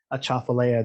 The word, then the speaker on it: Atchafalaya: That's the correct pronunciation of Atchafalaya, the big swamp that exists across most of Louisiana.